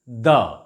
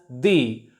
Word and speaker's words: the: word begins with a consonant sound we shall pronounce it the for example the Ganga the Ramayana the Bible etc but if the following word starts or begins with a vowel sound it is pronounced as thee for example the Atlantic